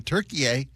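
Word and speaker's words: Türkiye: It's It's pronounced differently in America than it is around the world and I think it's always been Turkiye.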